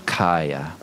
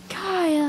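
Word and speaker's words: Kaeya: It's spelled fancy with an A-E-Y-A. Ah. Over there on the Ricky of the screen. Yeah, and you add that A instead of just the E, it makes you all fancy.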